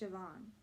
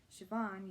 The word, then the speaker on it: Siobhan: her pronunciation CEO bond can you spell that she looked down at the letter S io b h a and O he said after a second I think it's pronounced Siobhan Candace scowled at herself Brandon